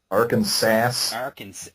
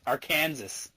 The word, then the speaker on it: Arkansas: Arkansas, it is illegal to mispronounce Arkansas. Arkansas. Arkansas.